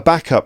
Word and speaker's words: backup: So a backup, that's a noun. A backup, notice the stress is on the word back.